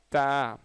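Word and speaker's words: ت: சரிங்களா, த நார்மலாக நம்ம தமிழில் சொல்லக்கூடிய த என்பதை போன்றதான்.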